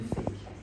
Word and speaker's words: PHEIC: Pour les journalistes, peut-être qu'ils ne le savent pas, fake, ça s'écrit PHEIC, ça veut dire Public Health Emergency of International Concern.